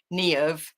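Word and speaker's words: Niamh: So our name, birth given name, Neov, is spelled Nyam her, because it's the Irish with the V, and the M and the H make a V.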